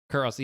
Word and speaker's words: Kurt Russell: Kurt Russell, yes.